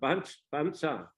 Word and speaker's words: Pansa: So, but Thais pronounce not Barsha, but Bansa. The same word, but their pronunciation is different.